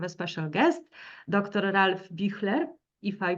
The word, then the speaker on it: Büchler: Ralph Büchler, if I pronounce it correctly in German.